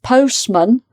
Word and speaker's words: postman: But then if you have postman, the stress is on post. Postman. So when you have a longer word with the word man maybe at the end of it, which is not emphasized so much as the other syllable, that is going to turn into a schwa. Postman. So man, postman. Okay, with the emphasis on post.